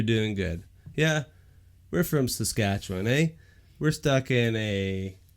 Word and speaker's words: Saskatchewan: Saskatchewan. Saskatchewan.